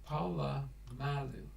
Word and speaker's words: Polamalu: Pronounced Polamalu.